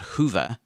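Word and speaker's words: Whova: Podfest uses an app called Hoover, which is spelt W-H-O-V-A, and it does have a few accessibility challenges, but it's doable.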